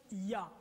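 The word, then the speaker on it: יה: Et la translittération, les 2 premières parties YH se prononcent Ya.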